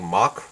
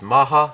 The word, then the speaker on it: Mach: the English it's supposed to be the correct pronunciation is supposed to be like mock or something but in this series the Japanese series or the Korean pronunciation or Japanese pronunciation they go with Maha so I'm going to go with the same